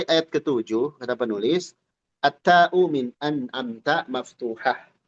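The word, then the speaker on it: أنعمت: Lalu ayat keet7 kata penulis atta anamta maftuhah. Ta dari kata anamta itu fathah. Anamta. Jangan jadi tu atau ti ya.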